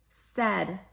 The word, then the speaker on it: said: end can easy peasy said okay it looks like sayed s-a-i-d and then you're rhyming